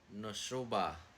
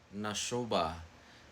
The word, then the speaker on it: Nashoba: The next town name is Nashoba. Nashoba. Nashoba just means wolf in the Choctaw language. So Nashoba.